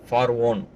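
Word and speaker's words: فرعون: தற்கால ஆங்கிலத்தில் ஃபிரௌனோட பெயர் ஃபரோ. 2000 வருட பழமையான பைபிளோட தமிழாக்கத்தில் ஃபார்வோன். அல்குரானில் ஃபிரௌன். இந்த 3 உச்சரிப்பும் ஒரே ஆளத்தான் குறிக்கும் என்றாலும் அல்குரானில் அல்லாஹ் குறிப்பிடும் உச்சரிப்பு தான் மிகச்சரியானது. ஏனெனில் இறைவனுக்கு உண்மையான வரலாறும் மூல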